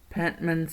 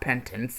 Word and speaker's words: Pentman: And the last level, Pentman's Study. Yes, I think I forgot the last level has his last name. I've been saying his last name wrong, haven't I? It's Pentman. Not Pentance, it's Pentman.